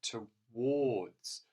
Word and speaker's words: towards: an l after it next one is in towards and again we've got an o sound in there towards there it is and it's actually spelt with that a r which again is a very unusual spelling because normally that makes the r sound doesn't it but if you listen carefully you can definitely hear the o sound in